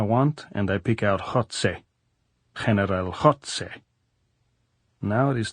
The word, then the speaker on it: Goltz: "How do you say Goltz in Spanish, Comrade General?" "Jotze," said Goltz, grinning, making the sound deep in his throat as though hawking with a bad cold.